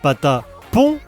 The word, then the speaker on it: Patapon: D'ailleurs, c'est marrant parce qu'on dit Pat Pon mais Ratatan. Ce qui s'explique par le fait que Pat àapon vient de la contine. Il était une bergère tandis que Ratatan, le titre est prononcé tel quelque à la française, un à l'anglaise.